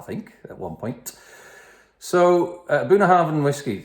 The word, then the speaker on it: Bunnahabhain: the last few months buna Harvin that's how you pronounce it buna Harvin twelve years old it's